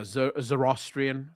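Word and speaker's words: Zoroastrian: No Hindu, no Jew, no Muslim, no uh Zoronist, Zoranist, I don't even know how to pronounce that word. No Buddhist, not a single person comes to the father except through Jesus Christ. That's what I believe because that's what Jesus said. Yeah, Zerostrian. Thank you.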